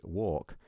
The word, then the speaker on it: walk: so if you say walk you wouldn't actually pronounce the L and especially me I